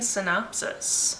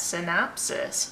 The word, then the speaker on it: synopsis: Number 3 is Leafing Through Lies, a book with a misleading synopsis. Why did I say it like that? Synopsis. Synopsis.